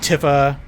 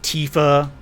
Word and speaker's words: Tifa: issue in seven like Tiffa yuffie is supposed to Tifa which would be spelled with two E's and yuffie which would